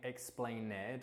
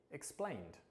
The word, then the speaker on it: explained: So instead of saying explained or explained, we would actually say explained, changed, subscribed, interviewed, and organized.